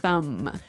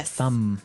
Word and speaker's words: thumb: of this word no I actually only pronounce the M the thumb the thumb yeah I